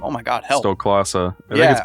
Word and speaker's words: Stoklasa: How do you pronounce his last name? Oh my god, help. Stoklasa.